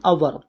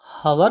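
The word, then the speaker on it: hour: इन एन आवर, एक घंटे के अंदर। दोस्तों ये हवर नहीं होता, ये आवर होता है, एच इसमें साइलेंट होता है, तो इन एन आवर, एक घंटे के अंदर।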